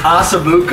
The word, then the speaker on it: osso buco: We gotta start pronouncing it right, though. Yeah. What do you wanna say? It's osso buco. Osso? What? Yeah. Osso. Well, so far we've done